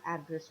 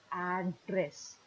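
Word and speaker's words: address: तो जब हम किसी को पता बताते हैं, जब हम किसी को नाउन की तरह यूज़ करते हैं एड्रेस वर्ड को, तो उसका प्रोनाउंसिएशन होता है एड्रेस। लेकिन जब हम उसे वर्ब की तरह यूज़ करते हैं, किसी को एड्रेस करते हैं, तब हम इसे बोलते हैं एड्रेस।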